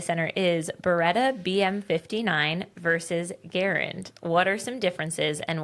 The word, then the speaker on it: Garand: It's Garand.